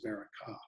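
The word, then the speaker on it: בְּרָכָה: pronounced be and the word for blessing is pronounced to Baraka so uh Jacob is pretending to be the beora so that he might receive the Baraka and this is going to come back later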